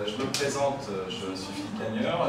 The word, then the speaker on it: Philippe Gagneur: Alors, je me présente, je suis Philippe Cagneur. La prononciation, c'est à peu près ce que vous voyez ici.